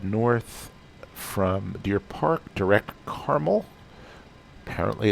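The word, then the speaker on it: Carmel: but we'll head north from deer park direct caramel apparently it's pronounced caramel but sort of like concord in concord 99%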